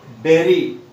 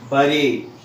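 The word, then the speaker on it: bury: And even in Telugu I have written it's berry. It's not bari. So generally what we do is we pronounce this word like bari. So my dear students or my dear friends, remember B-U-R-Y pronunciation is not bari, it's berry.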